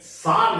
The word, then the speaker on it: Tsar: दूसरी ओर एक बात थी कि धीरे धीरे जार जिसको इंग्लिश मीडियम की किताबों में TSAR यानी सार लिखा हुआ दिखाई देता है, टी साइलेंट है, पर हम सुविधा के लिए जार शब्द का इस्तेमाल करते हैं।